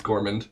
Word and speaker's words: Gormand: It's Gormand. It's Gormand. All right, great. Spelled like gourmand.